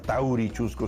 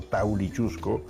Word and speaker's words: Taulichusco: Por eso también, digamos, el cacique limeño, ¿no es cierto?, Taulichusco no era Taurichusco, sino Taulichusco, y toda la toponimia, Maranga